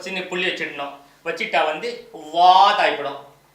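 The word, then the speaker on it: ض: வச்சுட்டா வந்து வாத் ஆகிடும். வாத் நுனி நாக்கு மேல் பல்ல இங்கே அதோடைய பல்லுடைய வேறு பகுதிக்கு போய் டச் ஆகும். அப்போ தான் அந்த உச்சரிப்பு வரும்.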